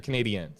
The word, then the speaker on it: Canadiens: Do you say Canadians or Canadiens? It's Canadiens. Yeah, Canadiens, right? You got to say it right.